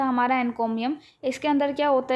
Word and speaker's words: encomium: कैसे कर सकते हैं एन कोमियम एन कोमियम को अगर हम प्रोनाउंस करते हैं तो इस तरीके की आवाज निकलती है इनको भी हम एन